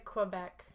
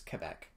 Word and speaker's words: Quebec: Canadian go back but the actual proper French Way of saying is Quebec French Wow get back